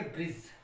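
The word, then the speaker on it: bridge: जैसे तो इसको हम पढ़ेंगे ब्रिज। क्या पढ़ेंगे? ब्रिज।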